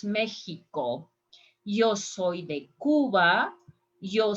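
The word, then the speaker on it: México: And I'm not saying in Spanish Mexico. In Spanish, we pronounce Mexico.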